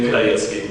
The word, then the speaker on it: Pidhajecky: Well, my name is Pidhajecky. One of the few times you'll hear my last name pronounced.